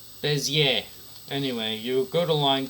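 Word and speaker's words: Bézier: Bezier. Oh, it's a French word, okay. Bezier.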